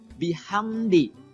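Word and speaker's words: بحمد: nafas saja biasa fasabbih Kemudian bihamdi hanya juga sama hak kecil ya kemudian ada mim sukun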